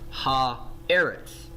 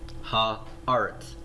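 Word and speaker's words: הָאָרֶץ: of the word Eretz it's not going to be pronounced ha Eretz it's rather going to undergo a vowel change in the noun and that vowel change is going to create an a vowel under the olive and so it's going to be pronounced ha or it's okay ha arts so when when Charles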